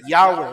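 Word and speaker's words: Yahweh: mi opinión muestran que la pronunciación de y he bab correcta es yahwe lo que traduce nuestra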